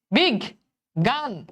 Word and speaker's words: বিজ্ঞান: তাহলে দেখো তো বাবা, বিজ্ঞান, এটার উচ্চারণ কি হবে? বিগ, বিগ, বিগ গান, বিগ গান, পরের ঘয়ের উপর চন্দ্রবিন্দু।